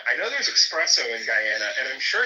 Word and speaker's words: Guyana: like, "Yeah, you know, because my family's from Guyana." And she would literally be like, "It's pronounced Gana."